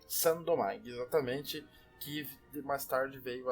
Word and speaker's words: Saint-Domingue: É assim que pronuncia? Isso aí, Saint-Domingue. Saint-Domingue, exatamente, que mais tarde veio a se transformar no país Haiti.